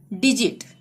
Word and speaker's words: digit: उसी प्रकार डिजिट, DIGIT, जी के बाद क्या आ रहा है? आई, डिजिट।